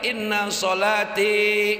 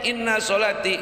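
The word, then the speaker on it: إن صلاتي: Domir ananya dipanjangin, inna sholati gitu, wa nusuki wa mahyaya wa mamati. Kalau bacanya inna sholati wa nusuki, pantesan.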